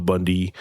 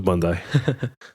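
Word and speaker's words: Bondi: these are the aqua Bundy and all the other candy colored iPhone uh not iPhone iMac I think you said it wrong what what did I say I said Bund bundai yeah probably bundai people get really upset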